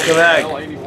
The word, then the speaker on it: Quebec: Quebec.